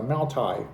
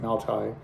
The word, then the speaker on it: Maotai: Um and they were all branded for uh Maotai, which is I believe is how you pronounce it, Maotai.